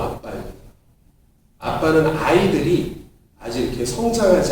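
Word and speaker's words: אבא: 아빠는 우리에게도 아빠지만 아람어 히브리어로도 아빠입니다.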